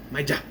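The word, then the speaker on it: Maya: And we also find out that Maja, I say it like that because that's how Alejandro says it, and I like how he says it. Maja.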